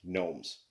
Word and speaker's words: gnomes: I assume that's like a gnome is like a gnome. It's like gnome. It's spelled really weird. GNOUMS, gnomes.